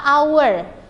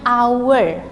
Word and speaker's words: hour: An ya, ada huruf H di sini pada kata our. penulisannya sebenarnya how ya, tetapi cara pengucapannya, pronunciation-nya itu H-nya itu tidak dibaca, dibacanya our seperti itu ya.